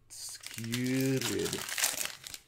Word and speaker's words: Skewered: Skewered. The U is soft as it followed by two consonants.